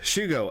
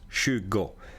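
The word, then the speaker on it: tjugo: or Don nitton okay Shugo as you can see This spells t j u g o but it's pronounced Shugo and this is one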